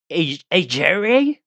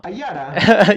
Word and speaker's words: Ayara: Ajare? No. Ayara.